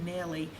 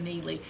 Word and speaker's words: Neely: People pronounce it Nelly instead of Neely.